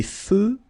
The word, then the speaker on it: feux: Des feux de circulation. So here, final X not pronounced.